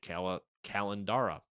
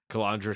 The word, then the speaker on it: Calandra: of its editor-in-chief, Nick Calandra. I almost said Calandra. Calandra is what? I went to school with someone with the same name, and they pronounced it Calandra.